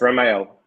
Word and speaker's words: Ramael: I'm still trying to say it right. Ramael, right? Ramael. Yes, Ramael. Ramael.